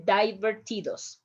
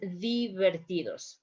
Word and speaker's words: divertidos: this word here divertidos you say divertidos right remember in spanish is the vertidos like it's the same example like bipolar in spanish is bipolar right so that will